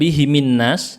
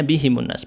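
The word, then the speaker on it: بِهِمُ النَّاسُ: Ya, berarti yang Ya, kemarin alaihim itu sama di sini kan bihimun nas, bukan bihimin nas, bacanya bihimun nas.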